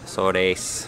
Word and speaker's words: Azores: Azores.